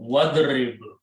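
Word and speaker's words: وَاضْرِبْ: When you combine with a waw, which is and, you do not pronounce this alif and becomes hamzatul wasl. So wadrib, that's the word in the Quran.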